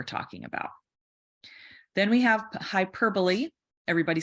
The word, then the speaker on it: hyperbole: you're describing or talking about then we have hyperbole everybody say hyperbole again hyperbole hyperbole hyperbolite because